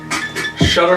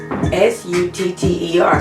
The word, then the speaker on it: Sutter: what is it shooter where is an h shetter where do you see how do you pronounce it where do you see an h s-u-t-t-e-r so where's the shooter where's the coming from sutter it was the